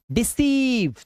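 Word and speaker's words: deceive: शुरुआत में बच्चों कि किसी भी वर्ड के लास्ट में अगर ई होगा आप उस ई को नहीं पढ़ेंगे। उसे इग्नोर करेंगे। ठीक है? तो डू not focus on this particular letter E which is इन the last of this word. ठीक है? तो इस पढ़ेंगे सिर्फ रिसीव कंसीव डिसीव। तो लॉन्ग ई का साउंड है। लॉन्ग व साउंड।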